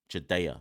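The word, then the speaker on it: Jediah: told me it's not jedah rich jadea is it jadea somebody told me I pronounced that wrong so if it's jadea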